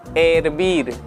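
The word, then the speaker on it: hervir: है, चल पानी उबाल, तो एरबीर में एच साइलेंट है। ठीक है, एरबीर, एच कभी भी स्पेनिश भाषा में किसी भी शब्द की शुरुआत में आएगा तो वो साइलेंट होगा।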